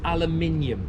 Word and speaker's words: aluminium: did our language and just for the record it's pronounced aluminium all right aluminum get that out there you have tomato